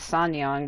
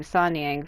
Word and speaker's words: Sanniang: is chinese i guess the true way to say her name is sanyong but i've been saying sanyang for years uh or all you